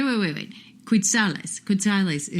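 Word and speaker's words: quetzales: yeah yeah yeah wait wait wait wait quales quales is how to pronounce the Guatemalan dollar okay and it's about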